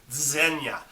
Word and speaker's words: Zegna: dog is named zinya it's spelled z-e-g-n-a but it's pronounced zenya uh amirna gildo zenya